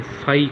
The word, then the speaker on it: phi: लगा के दरमियान में लाइन लगा लें, इसको फाई कहा जाता है, PHI फाई। इसका जो स्पेलिंग बनते हैं स्टूडेंट ऐसे लिख के, ज़ीरो